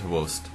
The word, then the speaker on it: XBOCT: their typical hard carrier semi- carry player is host um if you don't know what I'm saying it's xboct it looks like Xbox but uh it's pronounced it host um but he's not there he's their typical